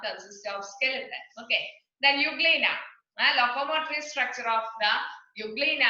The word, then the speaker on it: euglena: And there it's E is there, E is silent. That's why we are pronouncing it as euglena.